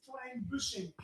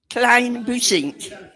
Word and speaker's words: Klein-Bussink: We're Correct pronunciation is Klein-Bussink. Klein-Bussink.